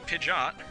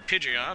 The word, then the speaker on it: Pidgeot: anyway here comes a pidot or Pidgeot or I've heard this name pronounced a billion different ways pidet I I've heard people pronounce it and apparently that's the right one I'm not even sure